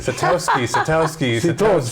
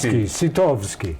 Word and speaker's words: Sitowski: Sitowski. Sitowski. Okay, Sitowski. Sitowski. Yeah, the W is a V, but anyhow.